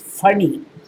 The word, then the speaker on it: Pani: Pani is pronounced as funny, who goes on long voyages to bring Shatadhana to India.